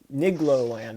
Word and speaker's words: Nigloland: The best way I can describe how to say it is it's igloo, but with an N in front of it.